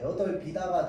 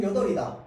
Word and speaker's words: 여덟이다: 대표적으로 자 이거 름 어떻게 해야 될까요 비다가 돼야 됩니다 여덟 비다가 돼야 돼요 알겠지 근데 우리 평소에 그렇게 좀 얘기 잘 안 하죠 이렇게까지 빡빡하게 발음 안 하잖아 여기에 남아 있는 사람은 총 여덟이다 여덟이다라고 이야기해야 됩니다 여덟 비다라 이야기를 해야 돼요 근데 우리가 보통 이제